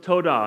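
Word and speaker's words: תּוֹדָה: is pronounced let's do the next one let's pronounced toada everybody say one two three toada this is the word praise and it is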